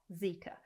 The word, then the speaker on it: Zeekr: But this is Zeekr, Zika. So this is, again, this is from the Chinese Geely group, who also make the Volvo, Polestar, Lotus, etc. So they've came out with Zika.